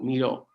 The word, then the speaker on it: Miro: Nosotros usamos una herramienta que se llama Miro, tal como suena, con acento en la O, Miro.